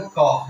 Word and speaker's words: Koch: हा है इसको जो तुम मर्जी नाम बोलो कोच बोलो का बोलो कुछ उसके बाद कोच बोलो लेकिन जो प्रॉपर नाम है इसका जो प्रोनाउंस करेंगे वो क्लॉक है सी ओके हा वाला का तो वो